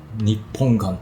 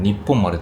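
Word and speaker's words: 日本丸: gran bola redonda llamada Nippon-gan Como alguien que recientemente viajó en un crucero, probablemente leería esto como "Nippon maru", pero la droga se pronuncia "Nippon gan" Las personas mayores podrán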